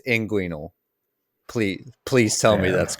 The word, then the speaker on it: inguinal: Linguinal hernia. I don't think that's right. I think we need to go to the expert here. Is that Tim? Is he right? It's inguinal.